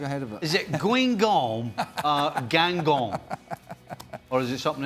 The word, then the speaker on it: Guingamp: Guingamp. Gangon.